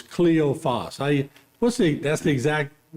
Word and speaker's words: Cleophas: I always say Cleophas, but it's Cleophas. That's the exact pronunciation?